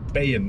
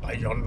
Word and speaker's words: Bayon: habe ich mich gefragt wie das Auto den ausgesprochen wird hundai sagt Ben nicht Bayon oder ähnliches von allen dreien fährt